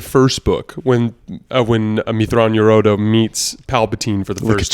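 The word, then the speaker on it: Mitth'raw'nuruodo: beginning of the first book when uh when amitron yorodo meets palpatine for the first two busting out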